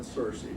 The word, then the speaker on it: Searcy: as far as i know it's always been cersei it was richard cersei he was a district